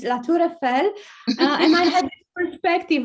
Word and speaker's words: La Tour Eiffel: I would just pronounce this in the French way, because I know if you said Eiffel Tower, it sounds terrible for the French. So it's La Tour Eiffel.